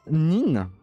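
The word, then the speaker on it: 人: Tu vas le prononcer comme ce avec Jin. Après t'as Nin. Oups.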